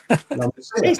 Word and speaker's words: La Masia: La Masia. Hail the Messiah! He's a very naughty boy. That's how it's pronounced, and he'll come good.